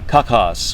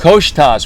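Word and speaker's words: Koçtaş: kakas or koshtas koshtas we figured out the right way to say it we there's a there's like a little hang down thing on the bottom of the sea that makes you go it adds an H it adds an H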